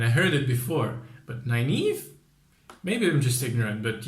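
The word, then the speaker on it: Nynaeve: Irish name and I heard it before but 9 Eve maybe I'm just ignorant but yeah but I finally know how to pronounce it so she has nine Eve who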